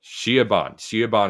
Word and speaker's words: Siobhan: I know it's like a name that like has a common pronunciation, but doesn't like look right spelling. Siobhan Bernadette? Shiaban is it, but no, last name it's Haugh.